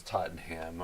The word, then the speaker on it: Tottenham: First of all, tell Ryan how to pronounce those teams the right way. Arsenal. Close enough. And what did you say there? Tottenham. Tottenham. Yes.